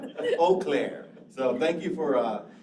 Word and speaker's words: Eau Claire: local pronunciation so that's we say eau claire yeah what i call it eclair i'm thinking of the donut right i know it must have been hungry eau claire so thank you for